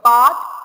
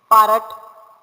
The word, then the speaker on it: part: of part p-a-r-t part here the letter r is silent okay you should not say parrot that will be wrong that is spelled wrong